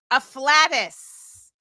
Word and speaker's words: afflatus: Afflatus sounds really close to like flatulent, but that's not what it is.